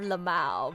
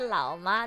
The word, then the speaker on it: LMAO: I thought you said laoma. No, like lamau. Lamau. Like just the l, but then like the mao sound, you know, lamau. Kind of like llama.